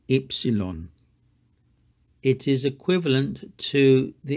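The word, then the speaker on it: ύψιλον: last letter is Epsilon some people say oopsilon but Greeks say epsilon it is equivalent to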